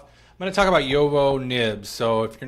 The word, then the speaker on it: JoWo: I just say it Jowo because like it's German and that's how you would closely pronounce the J and the V.